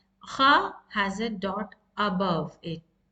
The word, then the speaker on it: خ: And let's see the makharaj of kha. Kha, it's the kha is from the much upper part of your throat, and it's the touching of your root of your tongue with the kha, the hard part of your throat. So that's the nearest part, and this is a new letter, and kha is a heavy letter.